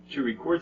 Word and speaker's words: record: better a record mm-hmm do you hear how the syllable Brett is a little bit louder and longer that is the stress one okay how about we look at record okay to record something mm-hmm to record mm-hmm record mm-hmm that's right it's the second syllable that is the difference between these two words um so usually as